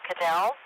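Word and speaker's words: Kjell: And then it's pronounced K-J-E-L-L, Dell or Cadell.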